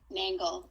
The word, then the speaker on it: Nangle: say your last name nangle with an N okay all right I've